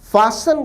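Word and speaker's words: fasten: बांध रहे हैं विद्यार्थी उच्चारण पर ध्यान दें शब्द फास में टी नहीं बोला जाता साइलेंट होता है एमनेवू अस्तित्व प्रारंभ हो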